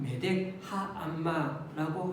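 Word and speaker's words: 메덱암마: 카드에 또 다른 명칭입니다 정확한 발음은 매덱 하안마라고 할 수가 있는데 오늘 여기 각주에 보니까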